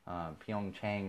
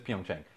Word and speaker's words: Pyeongchang: actually happening in but it's happening in Korea Pyeongchang or Pyongyang I think that's it Jung Chang I might pronounce it I love I always do this